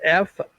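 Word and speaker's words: Fooocus: Focus, it's Foocus. Focus. It's Focus is what they pronounce. Many people pronounce. It's 3 O's.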